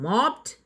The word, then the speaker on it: mopped: V1 form base form mop, V2 form past form mopped, V3 form past participle form mopped.